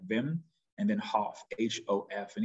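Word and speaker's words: Wim: it's w-i-m uh and it's pronounced like with a v like vim and then hof hof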